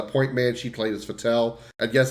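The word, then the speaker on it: Fettel: man she played as fatel and yes I say fatel because Paxton fettle sounds stupid uh so no matter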